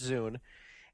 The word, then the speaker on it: Zune: revealing information about it it's spelled Zu NE pronounced zoon and it's a multimedia device um what they're